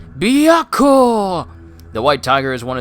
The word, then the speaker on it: Byakko: White Tiger, pronounced Byakko.